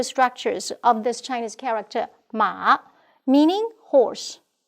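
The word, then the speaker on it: 马: We may take a look at the changes of the physical structures of this Chinese character, Ma, meaning horse, pronounced as Ma.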